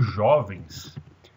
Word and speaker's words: jovens: Como jovens é uma palavra que ela é paroxítona, ou seja, ela tem a sílaba tônica na penúltima sílaba, que é jó, então ela não leva acento, né?